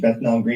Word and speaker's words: Bethnal Green: So I went to what's the pronunciation? Bethnal Green.